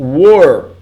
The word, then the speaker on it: were: Imagina uma pronúncia assim com acento circunflexo. Ó. Were. Repeat. Were.